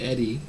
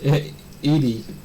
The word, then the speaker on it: Edie: I was pronouncing it Eddie. I was confused. Like, a grandma's called... Is it possible for a woman to be called Eddie? I was like, what? It's Edie.